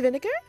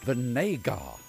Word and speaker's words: Vinegar: vinegar it's pronounced Vinay gah Oh Vinay gar that reminds me I've got to go to tarjay this afternoon God mr.